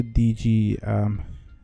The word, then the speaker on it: DigiD: But the problem with that is you need a DigiD. That's how you pronounce it in Dutch.